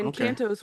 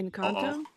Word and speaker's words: Encanto: Encanto's one that I've been watching a lot, like repeatedly. Excuse me, what? Uh oh. Encanto? Uh oh. There Sorry. we go. Uh oh. Encanto?